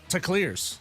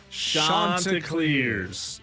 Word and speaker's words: Chanticleers: They shan't lose a game before it's over to Clears. Rob Brown. Let's learn how to say it right. On the count of 3, everybody. 1, 2, 3. Chanticleers. It's from Chaucer, by the way.